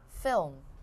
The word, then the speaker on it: film: 네, 한국 사람들은 필름이라고 하거든요. But you should say it quickly. Film. 굉장히 짧게. Film. 다시. Film. Film. 필름이 아니라 film.